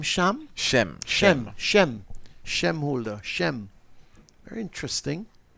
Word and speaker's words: Shem: Holder, you pronounce his first name Shem?